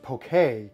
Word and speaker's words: poke: today we're making pokey Darci tells me it's pronounced poke a but I'm gonna be saying pokey today because I don't care this is an excellent Hawaiian day